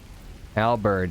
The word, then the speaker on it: halberd: Halberd. We do have proficiency for halberd, right? Halberd. I think it's like you actually pronounce the H.